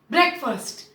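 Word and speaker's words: breakfast: ब्रेक first, यानी कि पहले वाले वर्ड को बोलेंगे ब्रेक, ब्रेक, ब्रेक नहीं, ब्रेक। और दूसरा वाला वर्ड है फर्स्ट, लाइक पहला, क्योंकि पहला खाना है दिन का, सो ब्रेकफास्ट।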